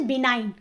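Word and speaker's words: benign: last word है बिनाइन इट इज नॉट बिनाइन इट इज बिनाइन है ना इसमें जी साइलेंट होता है बिनाइन का यूज़ कब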